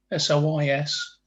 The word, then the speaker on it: sois: To eres, Elios, usted, es, nosotros, somos, vosotros, I think it's pronounced sois, S-O-I-S. Sois. That's it, sois.